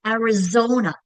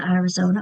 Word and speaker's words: Arizona: Which syllable is getting the accent? Arizona. It's Zo that I'm stretching out, right? That's the accented syllable.